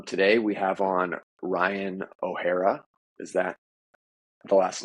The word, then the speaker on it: O'Hara: we have on Ryan O'Hara is that the last name pronounced right or absolutely as long as it's not O'Hare it's not the I